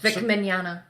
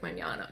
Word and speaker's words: Mignogna: Like I can never pronounce that. Mignogna.